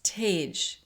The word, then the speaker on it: Tej: hush and he goes it's tej TE Jay Sonia like what like